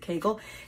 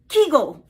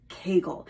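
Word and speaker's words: Kegel: way it's spelled this way even though we pronounce it Kagel they say keigle they call it keegle exercises which makes sense there's an e in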